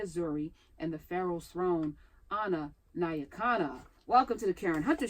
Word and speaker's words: Nyakana: All right, what does Nya Kana mean? Nya Kana. So Nya Kana. Nya Kana is the way to okay. properly pronounce it.